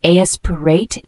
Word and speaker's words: aspirate: It's a verb pronounced aspirate, means to inhale fluid or foreign objects into the lungs.